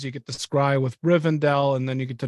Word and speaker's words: Rivendell: coming up is it I thought it was r-i-v-e-n isn't it rivendale she can't even read Rivendell oh that I was doing Dale Riven Adele yeah yeah I'm saying it wrong no I just so